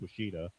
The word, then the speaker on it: Washita: It looks like Wichita Mountains, but I think it's pronounced Washita.